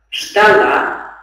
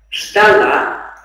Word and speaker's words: ждала: С ударением на каком слоге надо произносить? Ну, а так как перед ребенком в тетради и есть символика ударения, и можно еще раз прослушать, то, соответственно, выбор будет верным. Ждать, ждал, ждала, ждали. Понять, понял, поняла, поняла, поняли.